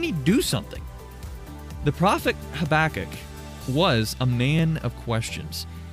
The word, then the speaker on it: Habakkuk: Have you ever heard the name Habakkuk? Or Habakkuk, depends on who you talk to about how you pronounce this one.